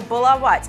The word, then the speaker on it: баловать: да головой но уже уже научились произносить верное слово баловать забыли баловать баловали волнуют